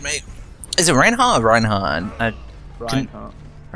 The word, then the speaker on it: Reinhardt: Is it Reinhardt or Reinhardt? Reinhardt. Pronounce it how you don't expect it to be. Basically, German 101.